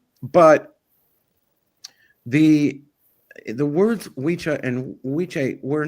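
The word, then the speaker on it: wicce: Wiche is how you say it, or Wichi, when you're talking about a woman.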